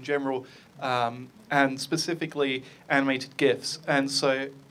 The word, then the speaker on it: GIF: um and specifically animated gifts and so as you can tell from what I just said I use a hard G um but really does